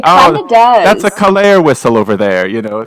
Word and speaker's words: Kalare: Kalare rhymes with safari. Kalare rhymes with safari.